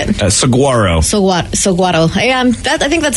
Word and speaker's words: saguaro: uh the type of plant that is a saguaro danny it's a cactus why don't i just